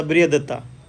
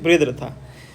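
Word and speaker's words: बृहद्रथ: देखिए यहाँ पे तो एक गधा नहीं कहना चाहिए, लाइक जो लास्ट रूलर थे जिसका नाम था बृहदत्ता, बृहदरथा, ठीक है, थोड़ा प्रोनाउंसिएशन अलग है, बृहदरथा।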